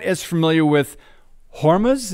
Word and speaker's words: Hormuz: not as familiar with hormas is that how you say it the straight of horm Hormuz so explain why you